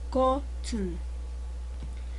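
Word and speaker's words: 꽃은: Pero ya habíamos dicho en reglas anteriores que cuando es sola se dice cot, pero si tiene una vocal seguida, entonces se pronuncia como kotun.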